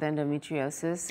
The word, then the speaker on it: endometriosis: women's reproductive disorder called endometriosis. I'm so glad you pronounced that, not endometriosis.